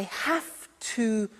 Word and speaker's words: have to: through an example I have to you a computer at work now did you hear my pronunciation I have to notice I don't say V I say F have half it becomes